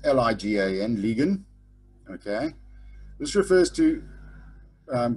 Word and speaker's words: ligan: the side if it is a distressed situation pronounced l-i-g-a-n-ligan okay this refers to um goods that are